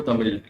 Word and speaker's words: Tamil: I don't even know Tamil. Tamil also I have learned now to pronounce proper for it is Tamil. Not Tamil.